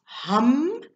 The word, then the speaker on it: ham: for the day it's hum okay so spelt h a m like ham but pronounced hum okay so guys have